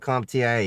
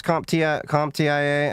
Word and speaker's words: CompTIA: saying like CompTIA, you talking A+, Security+, you talking like their Security X or something like that?